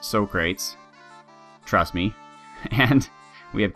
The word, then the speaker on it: Socrates: Right off the top we have Polat, or Socrates, and yes, it is pronounced Socrates, trust me.